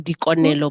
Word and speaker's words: Likonelo: So my name is spelled L-I, but Kemusoto. So in Sesotho, L-I is pronounced D. So Ki Dikonelo Boathi.